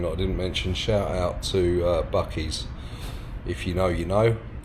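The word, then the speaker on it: Buc-ee's: Oh, and also one thing that I didn't mention, shout out to Bucky's.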